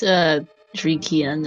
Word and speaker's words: Driekiann: Pretty sure it's Driekiann, not Driekiann or whatever it is you're pronouncing it as, by the way.